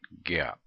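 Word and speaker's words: GAAP: come up with some generally accepted accounting principles pronounce that Gap and GAP is has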